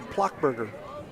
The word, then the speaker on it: Plockberger: second base is Bomer with Plockmeyer or Plockberger. That's how you pronounce it, we asked. Mom was over there, generously provided the correct pronunciation.